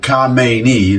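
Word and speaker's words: Khamenei: and reporting that Kamei the Kamei that's how you pronounce it Kamei the um supreme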